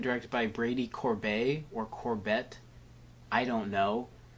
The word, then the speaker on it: Corbet: It's written and directed by Brady Corbet or Corbett. I don't know. It's a it's probably Corbet, like sorbet. It's spelled the same way, but I don't do that much research.